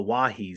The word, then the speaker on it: Oahe: know check out the it's pronounced the wahi zap a little bit of a different different pronunciation uh from the word but you know if you're not from the area you know these things have to be taught to us so well just like